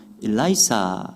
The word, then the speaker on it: 엘리사: 다연 엘리사가 수제자 격입니다이 엘리야 엘리사는 히브리어 발음을 우리 한국어로 그대로 옮긴 것이기에 히브리어 발음과 비슷합니다 영어식으로 표현하면 어떻게 읽어요 엘리야는 일라이자 엘리사는 엘라이사 이렇게 읽더라고요 그러니까 비슷합니다 영어로 읽어도